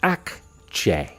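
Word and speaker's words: Akçe: Al-Kiki Akche is pronounced Akche. Ak. The A sounds like the A in father. Father. Akche. Akche. Similar to Che in Czech, but with a softer, shorter A sound.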